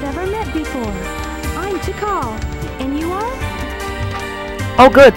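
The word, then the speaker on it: Tikal: don't think we've ever met before before I'm T call and you are oh good so I pronounced her name right T call okay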